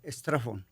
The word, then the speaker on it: Straffon: Se escribe Strafford. Acá ven. Strafford. Strafford. Strafford, sí. ¿De dónde es? ¿Es inglés? Inglés, pero viene de Austria. Inglés. Y se degenera, porque antes era Stragon. Strafford, ajá.